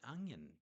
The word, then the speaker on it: onion: Onion has two syllables. So this time we're going on a syllable level analysis of onion. We've got onion. And you'll see that we've got the schwa symbol there, because we do point out when there's a schwa vowel, because the main way